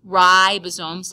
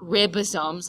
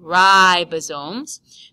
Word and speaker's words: ribosomes: keep it going ribosome be careful to call this ribosomes like R bread and not ribosomes like your ribs so say ribosomes this is in charge